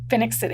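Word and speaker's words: Phenix City: Now, let me make sure I'm pronouncing this correctly. It's Phoenix City. Phoenix City, yes.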